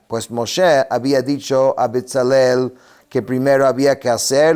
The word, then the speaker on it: Betzalel: Betelkel significa, o sea, se pronuncia Betalel en la sombra de Dios.